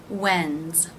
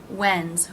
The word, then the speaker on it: when's: when is becomes when's here the apostrophe s is pronounced as a Z when's when's when is when's it